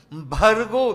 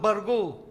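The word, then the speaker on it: भर्गो: Bhargo, not bargo.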